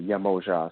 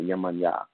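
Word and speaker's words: Yemoja: You can find that even the way that people pronounce certain Orisha names can be different from one place to another. Some people may say Yamoja, some say Yamanya. Some may say Shango, some may say Chango. It depends on just how they pronounce those things.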